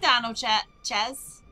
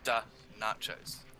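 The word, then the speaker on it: Danochez: And hey, Dano Ches. Dano Ches. Yes. I always feel so bad when I mispronounce people's names, especially at work. Da nachos.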